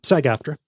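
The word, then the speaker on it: SAG-AFTRA: ask uh Saga uh first off am I pronouncing that right? Yeah. Sag afterra.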